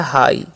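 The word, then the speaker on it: high: एच आई जी एच। तो जैसे हम लोग पढ़ते हैं हाई। यहां पर जीएच का साइलेंट कर देना है।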